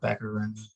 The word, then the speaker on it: Baccarin: So Cruise Shadows and Maria Baccarin. Am I pronouncing her name correctly? Yeah, Baccarin.